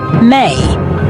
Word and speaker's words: me: This world view was governed by me, pronounced may.